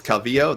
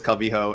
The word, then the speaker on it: Calvillo: she I think herself has said that is Calvillo that's how she pronounces it but he was adamant adamant it is cubby ho and that she was pronouncing her own name